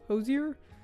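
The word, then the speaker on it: Hozier: the ho hosers is you say his name Hosier his new song too sweet love it 10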